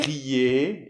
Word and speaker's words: crier: Donc voilà, donc papier, ouvrier. Crier, exactement. Pas de R, on le prononce pas là.